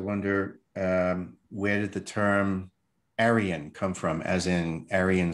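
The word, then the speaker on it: Arian: Aryan, A-R-I-A-N. from Arion, you get two other mispronunciations, Arion with a Y, or Orion, as in Orion constellation, which is exactly the location of the empire I'm talking about here.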